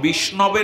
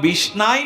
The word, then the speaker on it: বিষ্ণবে: নমঃ শ্রী বিষ্ণবে নমঃ ওম নমঃ শ্রী বিষ্ণবে নমঃ এইটাই উচ্চারণ কেউ যদি বলে ওম নমঃ বিষ্ণায় নমঃ ভাব যার আছে আমি তারটাই গ্রহণ করি ভাষা নয় ভাবগ্রাহী জনার্দন